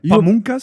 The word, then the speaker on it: Pamungkas: goat ladies and gentlemen makes a noise forget pamas thanks for having did I pronounce it nice right pamas you pronounced it beautifully and perfectly and and this